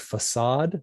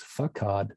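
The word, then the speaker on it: façade: in a context where, the word facade, you'd be tempted to read that as fakad if you didn't know the word. So the sevilla underneath the C says, let it be a s value here instead of a k, right?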